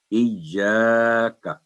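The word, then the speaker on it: إِيَّاكَ: چلتے ہیں، ہاں جی، تو صحیح تلفظ یہ ہے کہ ایاکا، یعنی ایا کا نعبد نہ ہو، پہلے تسلی سے ایا،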